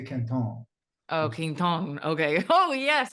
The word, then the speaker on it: Quinton: like some people say is it Kinton how do you say it it's it's the the gentleman that historically it's it's named after because he just he discovered it as Rene Kon oh Kon okay oh